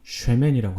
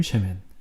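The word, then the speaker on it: שֶׁמֶן: 되어 있는데 그 이름은 히브리어로 sham이라고 하고요 기름은 쉐멘이라고 합니다 쉐임 쉐멘 굉장히 비슷하죠 전도자가 이렇게 쉐맨이라는 언어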